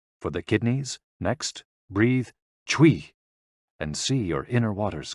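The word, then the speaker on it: 吹: CHUI, pronounced like chui, with a forceful exhale, which is also associated with the kidneys.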